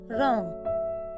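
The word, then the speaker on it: wrong: किसी वर्ड के शुरुआत में अगर डब्लू के बाद आर आता है तो डब्लू का उच्चारण नहीं किया जाता।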